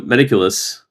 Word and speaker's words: Metaculus: So Metaculus, I feel every time I say it, I'm not saying it right.